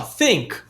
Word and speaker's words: think: E olha só, think, think is when usually and the pronunciation here is very tricky because you have to remember the th sound.